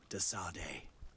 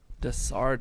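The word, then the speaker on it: De Sardet: May the light guide you, Desade. Desarde is how you say it.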